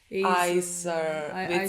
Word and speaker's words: Heiter: Heiter. It's spelled E-I something, but she says A.